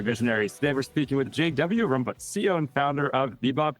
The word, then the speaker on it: Jan Willem Rombouts: That's Jan Willem Rombouts. I lived in the US for 7 years. And I've heard it pronounced in 17 different ways, but Jan Willem Rombouts is the right way.